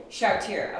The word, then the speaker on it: Chartier: Chartier. Oh, I pronounce it the French way.